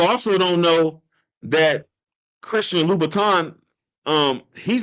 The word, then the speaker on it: Louis Vuitton: Vuitton is, but they don't know that it's Louis Vuitton. They don't know that they're not pronouncing it right. Well, people also don't know that Christian Louis Vuitton Um, he's not the only one that made